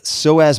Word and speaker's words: psoas: All right, psoas major. I also mentioned psoas major. That's spelled P-S-O-A-S, major.